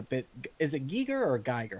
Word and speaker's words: Giger: talked about a bit is it giger or geiger how do you say that it's pronounced giger eager he basically they took his hellscape vision